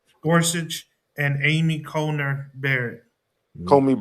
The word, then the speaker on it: Gorsuch: The three liberal judges were joined by Chief Justice Roberts, by uh Neil, how you pronounce that boy name. Gorsuch Gorsuch and Amy Conner Barrett Comey Barrett.